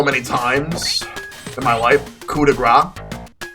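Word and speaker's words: coup de grâce: times in my life Cuda Gra but some people pronounce as coupe the grace all right so after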